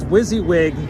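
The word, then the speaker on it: WYSIWYG: uh wizzywig tv yeah what you see is what you get is pronounced wizzywig tv yeah can i just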